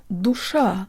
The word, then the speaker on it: душа: The only way to make simple words like this one sound Russian is to use a good Russian default mouth position. Jaw slightly forward, tip of the tongue behind the bottom teeth, lips rounded and protruded.